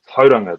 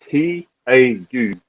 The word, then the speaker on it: Tauranga: You probably won't even be able to pronounce it properly. The name of my hometown is Tauranga. That's Tauranga. Tauranga.